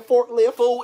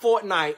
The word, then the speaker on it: Fortnite: why would you up late last night playing forklift fool it's pronounced fortnite and because i can like mind the business